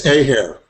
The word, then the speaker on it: Ahier: But, right, it's Ahier.